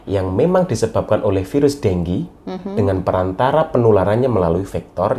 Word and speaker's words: dengue: Dengue. Itu bacanya dengue ya, bukan dengue. Kadang orang dengue apa dengue ya. Jadi memang dengue.